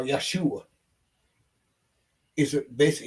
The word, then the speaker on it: Yeshua: did not exist and how you pronounce it was Yahwh or Yeshua is a basic it's a it's a derivative of the word Joshua Joshua, Yehuda, Judah.